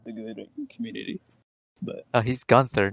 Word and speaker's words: Gunther: Sometimes it's Gunther. Sometimes they try to be, a little spicy and say Gunta.